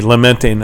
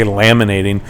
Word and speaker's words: lamenting: I said it right today, lamenting. I always want to say laminating.